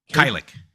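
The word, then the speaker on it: Kajlich: Is it Kylik? Yes, Kylik. I can never pronounce.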